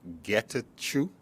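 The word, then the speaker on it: Getachew: doctor uh and i wanna make sure i pronounce his name correct getachu g-e-t-a-c-h-e-w and uh kistler is a last year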